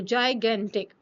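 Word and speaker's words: gigantic: ये जाय होगा, ये ग होगा, ग। तो जाइगेंटिक। ठीक है, सो एनॉर्मस क्या हो गई?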